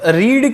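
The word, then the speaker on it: read: पढ़ा गया याद रखो रीड का पास्ट फॉर्म होता है रेड क्या होता है रे ये प्रेजेंट होता है ये पास्ट होता है स्पेलिंग सेम होता है पढ़ा अलग जाता है समझ में आया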